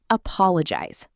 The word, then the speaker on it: apologize: Next, apologize. Four syllables. Apologize. Stress on the second syllable, pal.